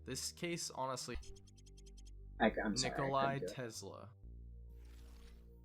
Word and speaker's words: Nikola: Because many people in the West, at least, are more familiar with the name Nikolai, rather than just Nikola, which is Tesla's actual first name.